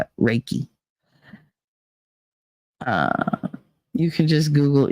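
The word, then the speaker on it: Reiki: knew yay reiky pronounce I don't know how you pronounce it you're lucky I knew what it was I knew it started with an R raiki raiki okay raiki I'll try to remember that raiki uh you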